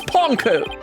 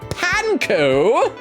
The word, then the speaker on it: Ponco: Miss panco panco SE I'm I'm sticking it to her by saying her name wrong M panco allow me to ask you a question my name is ponco say it with me PCO I believe you